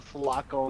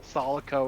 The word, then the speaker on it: Sulaco: I remember when Angry Joe mispronounced the Sulaco and called it the Solico or some shit.